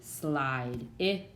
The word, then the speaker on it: slide: So we go from slid, sorry, I'll do it over here, to, with that silent E, slide.